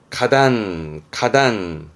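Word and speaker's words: 花壇: 가단.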